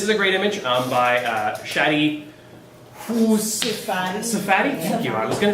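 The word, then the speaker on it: Shaddy Safadi: This is a great image by Shadi Safadi? Thank you, I was going to say it right. It's a great little breakdown. I do recommend, if you want to learn more fundamentals, look up Shadi Safadi.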